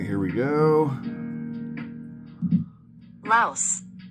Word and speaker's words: Laos: Laos. Laos. Laos. Just like the bug.